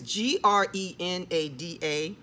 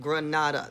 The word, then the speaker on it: Grenada: And it's, you know, it's G-R-E-N-A-D-A. You would say Grenada is sounds like it's spelled Grenada, not Grenada, Grenadi, right?